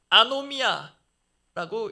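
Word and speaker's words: ἀνομία: 예수 그리스도를 대적하고 성도들을 혼란에 빠뜨리는 자의 가장 대표적인 특징을 또 가장 먼저 불법한 사람, 불법이라칭한 것입니다.이 이 불법으로 번역된 헬라오 단어가 아노미아라고 읽습니다.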